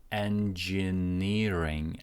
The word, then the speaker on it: engineering: So primary stress goes on to ni, and then the secondary stress goes on to the first syllable n. N as in head. So engineering, and this jin sounds like j.